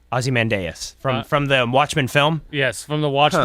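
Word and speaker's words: Ozymandias: tell me what I'm what it actually is Azie mandas yep that you actually pronounced it right I did it aie mandas from the Watchman some people would argue azy mandas but you're you are correct azy mandas from from the Watchman film yes from the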